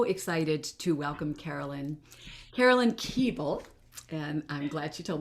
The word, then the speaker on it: Koebel: Carolyn Koebel, and I'm glad she told me how to correctly pronounce that. It's like Knish, you know, it's one of those names.